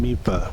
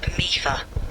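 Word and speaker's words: Mipha: Wait, in Breath of the Wild, but you said Impa, and now you're saying Mipa. What is it? My bad. Let me clear that up. Mifa is pronounced Mifa.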